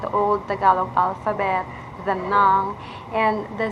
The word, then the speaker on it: ng: pronounce a Tagalog sentence, instead of pronouncing nang as NG or that nang, you sounds neng. Neng, because you have that E sweet sounds in most of your letters. And you also pronounce it or you read it as naga if the NG is already in a sentence or in a word.